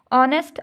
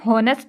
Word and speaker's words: honest: ऑनेस्ट आप कर लें, HONEST, ऑनेस्ट। अब देखिए इसमें हॉनेस्ट नहीं बोलते, हम ऑनेस्ट बोलते हैं, तो इसमें एच जो है वो साइलेंट लेटर हो गया, ठीक है।